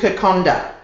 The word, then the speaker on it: Kokoda: a Fijian dish and it's called Konda it's spelled k k o d a but in Fijian language what happens is that when you have a d with a vowel before it there's an N that you can't see therefore